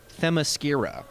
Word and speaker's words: Themyscira: It seems to me it makes sense that It's a very difficult Amazons word would be to from pronounce. Amazonia. Yeah. But it's Themyscira.